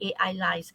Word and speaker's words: Ailyze: So I was thinking, is it like Elise, or is it like Elise, the way you spell it, the way you pronounce it, but it's actually AI lies.